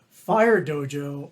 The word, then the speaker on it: Phyre Dojo: r e dojo and why why do you spell it that way fire Dojo uh that name uh I created for two